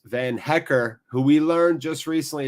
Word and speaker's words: Van Hecke: in nonetheless and it's van hecker who we learned just recently it's pronounced van hecker not van hecka we should call him